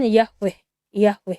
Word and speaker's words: Yahweh: Kalau mereka masih mengikuti itu transliterasi huruf, sehingga mereka sebut di sini Yod-He Waw-He, padahal pelafalannya kan Yahweh gitu ya.